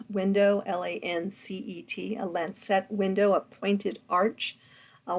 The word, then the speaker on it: lancet: because of that Gothic Lancet window there's a lance set window l-a-n-c-e-t a lens set window a pointed Arch a window right behind